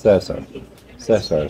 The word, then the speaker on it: Cesar: And so I met a young man named Cesar. And when you look at the way it's spelled, it looks like Caesar, but he's Ecuadorian, is pronounced Cesar.